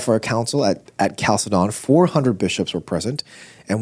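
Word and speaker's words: Chalcedon: to the council of Calcedon or Chaledon. How do you pron How do you How do you say that? C. Oh, it's a C sound. Calcedon.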